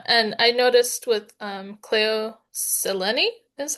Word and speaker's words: Cleo Seleni: And I noticed with um Cleo Seleni is how you say her name.